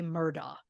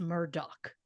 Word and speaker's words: Murdaugh: spelling of the name my instinct is to say murder but after hearing Alex say his own name I am going with how he says it which is Murdoch I know that friend